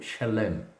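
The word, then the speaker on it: שלם: que quer dizer paz então Salém a pronúncia correta deveria ser ou shalem ou Shalom bem parecido com Shalom então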